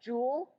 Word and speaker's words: joule: is the joule or the pillow Jewel is pronounced Jewel or kilojoule so this part here this is